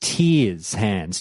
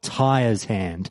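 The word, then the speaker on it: Tyr's Hand: far as I'm concerned it's totally pronounced tears hands not tires hand I'm not sure if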